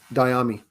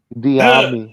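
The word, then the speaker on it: Dyami: Diami. Like that Will Diami. Smith. That Will Smith Miami music video. You guys remember that? Yeah, you just put a D instead of the M. Diami.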